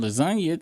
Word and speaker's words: lasagna: I I know that that one time um the G is silent in lasagna thanks to Wayne, but I didn't know about no goddamn silent piss.